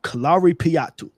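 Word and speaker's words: Kalaripayattu: Kalari patu k a right me say that again and then spell it.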